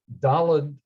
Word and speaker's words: Dalet: But anyway, Dalet is definitely correct with a T sound at the end, not a D sound, and it's clearly related to the word Dalet, which means door.